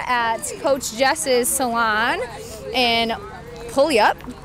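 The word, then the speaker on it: Puyallup: salon and pul up is that how you say it PE up Pew up Washington pulley up Pew up okay Pew up Washington I couldn't say it until I moved to Western Washington and everybody was like you're saying it wrong like oh no so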